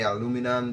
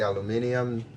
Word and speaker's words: aluminium: They say aluminum, they say aluminium, I don't know.